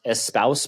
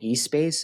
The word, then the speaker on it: Espace: Shout out to, it's pronounced Espouse Pickleball. I was calling it eSpace. It's ESPACE Pickleball.